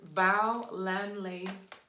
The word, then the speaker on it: Bolanle: I'm glad she put the pronunciation. So it's Bolanle.